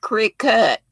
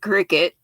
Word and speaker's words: Cricut: It looks like cricket, but I think you pronounce it Cricut.